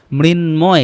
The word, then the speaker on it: মৃন্ময়: সংস্কৃতগুলোও করতে হবে কিছু কিছু শব্দে, এটাও করতে হবে, যেমন বাংময়, মৃন্ময়, কারণ এগুলোর কি আছে, এগুলোর মধ্যে ন, ম এগুলো আছে। এই যে এখানে ন আছে, ম আছে, এই কারণে এগুলোর উচ্চারণ অবিকৃত থাকবে বা ময়ের উচ্চারণটা হবে।